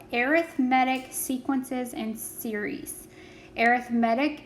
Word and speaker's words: arithmetic: arithmetic sequences and series arithmetic is spelled the exact same way as arithmetic so think um you know the word read like i read a book can also be i read a book it's kind of the same idea there an arithmetic sequence